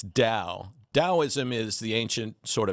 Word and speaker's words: Tao: today and you said to pronounce it properly it's Dao taoism is the ancient